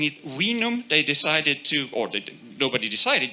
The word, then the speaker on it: vinum: And they spell it like this, but they pronounced it vinum, right?